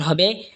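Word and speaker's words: حاء: জিম জিহ্বার মধ্যখান তার বরাবর ওপরে তালের সঙ্গে লাগা উচ্চারণ হবে জিম। এরপর এটা হলো হা। হা হলকের মধ্যখান হয়তো উচ্চারণ হবে হা।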